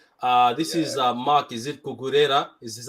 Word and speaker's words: Cucurella: Is it Cucurella? Is this how you say his name? Cucurella, yeah, Mark Cucurella.